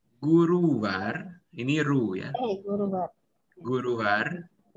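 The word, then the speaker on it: गुरुवार: Kamis Guruvar. Guruwar, ini Ru ya.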